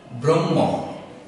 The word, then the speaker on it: ব্রহ্ম: এখন এটি দিয়ে আমরা কয়েকটি উদাহরণে যাচ্ছি ব্রহ্ম ব্রহ্ম ব্রাহ্মণ ব্রাহ্মণ এই শব্দ দুটি বা ব্রহ্ম